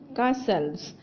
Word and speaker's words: castles: Our first word is castles. Spell castles, C-A-S-T-L-E-S, castles. Children, be careful. Letter T is silent in castles.